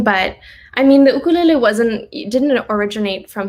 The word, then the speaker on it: ukulele: just love am the ukulele my little baby here um that pronunciation is based off of hawaiian pronunciation so they pronounce their use rather than you it's like ooh so it's ukulele same with i think